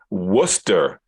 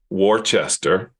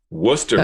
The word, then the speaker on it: Worcester: Johnny that is in Worcester Massachusetts not Worchester Worcester Massachusetts I know how to pronunciate